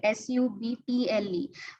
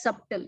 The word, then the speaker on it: subtle: So, for example, subtle is a word which is irregularly spelled, S-U-B-T-L-E, but it's not pronounced as subtle, it is subtle.